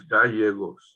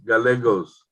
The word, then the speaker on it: Gallegos: Whenever you have two L's together, they're pronounced like a Y. Correct. Yes. So what's your client's name? Martha Gallegos. You're closer. It's Gallegos.